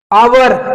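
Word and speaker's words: hour: हो जाता है जैसे आवर इसमें एच साइलेंट है देखिए आवर नेस्ट ठीक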